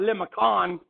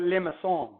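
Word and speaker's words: limaçon: don't know it's French there's like a fishhook on the C and that that means that it's a soft C so not limit on but limits on okay and limits on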